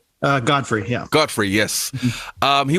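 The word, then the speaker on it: Gottfried: was in all three movies was gilda gilbert joffrey am i pronouncing that right uh godfrey yeah godfrey yes um he was in the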